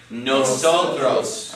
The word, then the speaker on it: nosotros: our vocabulary list okay nosotros so the accents on the second last syllable because it ends in that say together nosotros okay the next word